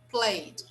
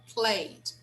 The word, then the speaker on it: played: should be played okay actually we don't say this final vowel sound in the end we don't pronounce that so we say played played okay state state so